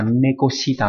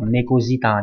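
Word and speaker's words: 猫舌: là lưỡi, nhưng mà không đọc là nekoshita mà là đọc nekojita nhé.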